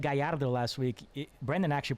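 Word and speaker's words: Gallardo: off kudos i said guyardo last week brandon actually pronounced it i heard that come on here we go the double l is uh pronounced like a j there uh and yeah this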